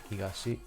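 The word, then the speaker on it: 東: are the four winds higashi is the japanese way to pronunciation of east where is it becomes tol higashi well how it works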